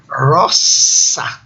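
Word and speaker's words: rosa: Então, dessas palavrinhas, a primeira aí, a pronúncia é assim, Magnus. Na segunda linha, 4 palavras. Vejam, a primeira, roça, o nome da flor, não é?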